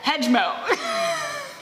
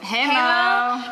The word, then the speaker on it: Hejmo: Hemo. How do you pronounce all of these? Guys, The yay is silent.